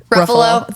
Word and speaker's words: Ruffalo: Kirsten dunce Elijah Wood uh was it Mark rufalo is that how you say itk Ruffalo thank you that's that's why Mark Buffalo Mark